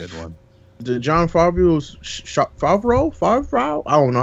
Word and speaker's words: Favreau: the John Favreau's Favreau.